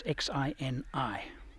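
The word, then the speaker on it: Xini: at paint penny Lagoon it's Xin I that's how you pronounce it hardly used Road but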